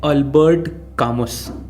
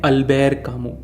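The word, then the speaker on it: Albert Camus: लिखते हैं अल्बर्ट कामुस, पर पढ़ते हैं अल्बेर कामू, क्योंकि फ्रेंच भाषा में अंत के अक्षर कई बार साइलेंट हो जाते हैं और उनका उच्चारण थोड़ा उनके ही टाइप का होता है।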